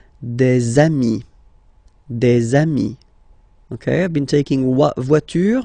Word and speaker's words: des amis: de, okay, here, and then there is this little liaison, remember, it's been introduced in a previous lesson. You put this little link between the word, des amis, okay, I've been taking